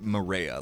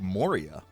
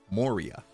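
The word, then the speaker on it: Moorea: hello it was cool they don't actually pronounce it Maria like that's how we pronounce it here Mariah um they pronounce it more like morya Moria uh which makes me think of Lord of the Rings right Moria that's kind of how they pronounced it there anybody here Ben say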